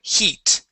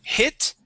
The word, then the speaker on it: heat: First up is the word heat. Okay, you had said hit. Okay, this would be a long E sound. Heat.